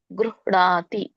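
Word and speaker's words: ಗೃಹ್ಣಾತಿ: ವಾಸಾಂಸಿ ಜೀರ್ಣಾನಿಯ ಯಥಾವಿಹಾಯ ನವಾನಿ ಗ ಕೆ ಇದಿದೆ ವಟ್ರಸುಳಿ ಇದೆ ಸೋ ಹಾಗಾಗಿ ಗೃಹ ಅಂತ ಹೇಳಬೇಕು ಅದಕ್ಕೆ ಋ ಬರುತ್ತೆ ವಟ್ರಸುಳಿದು ಉಚ್ಚಾರಣೆ ಋ ಋಷಿ ಋ ಋ ಬರುತ್ತೆ ಹಾಗಾಗಿ ಗೃಹ ಅಂತ ಹ ಕೆ ಣ ಅತ್ತಿದೆ ಣ ಗೃಹಣಾತಿ ನರೋಪರಾಣಿ ಅಲ್ಲಿ ಕೂಡ ನೋಡಿ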